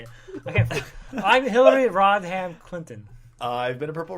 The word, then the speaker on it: Rodham: I can't I'm Hillary Rodham Clinton I've been a purple raisin man and I've been the guardian AKA Mister please don't punch my boss it's not pronounced rodam Jesus Christ I don't